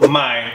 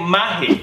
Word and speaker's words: mae: No, M-A-E, mae. Mae. Es que digamos, en otros países latinos dicen maje. Eso yo he escuchado de Honduras. Ajá, pero en Costa Rica decimos mae. Mae.